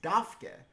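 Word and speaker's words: דווקא: give you a hint the Schumer aleph at the end is pronounced and although there is no vowel indicated after the dalid there is an ah very close the tsveen are actually pronounced as a F in this case because it's followed by an unvocalized consonant it's dafke which means precisely there is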